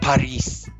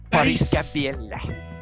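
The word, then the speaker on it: Parris Campbell: It's pronounced Paris. Paris Campbell.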